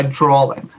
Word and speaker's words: drawing: I had an L to my drawing. Oh God. That's stupid. And my dad did something like that today too, and I was like, "There's no L in that word."